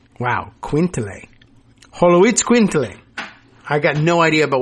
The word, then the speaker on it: Xoloitzcuintle: If I could hear it pronounced, I think I could learn it. But Holoitz Quintle. Wow. Quintle. Holoitz Quintle.